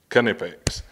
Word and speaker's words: Knipex: canipix so we can put all the myths to bed about having a silent k and this and this and this and this and this you heard it straight from the horse's mouth canipix so now let's dive